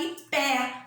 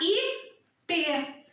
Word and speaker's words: ipê: Lembra que a tia falou quando tem um acento circunflexo o som é fechado? Então eu não vou falar Ipé, porque Ipé o som é aberto. Eu vou falar Ipê.